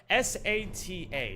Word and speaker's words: SATA: How do you pronounce it? What? S-A-T-A, SATA.